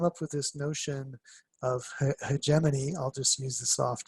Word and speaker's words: hegemony: And he thought up a concept of hegemony, I think hegemony, we use a hard G.